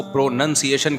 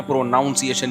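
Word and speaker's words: pronunciation: है pro noun है लेकिन जब इसको प्रोनंसिएशन कहेंगे ना प्रोनाउंस एशन नहीं कहते तो मैं अपनी तरफ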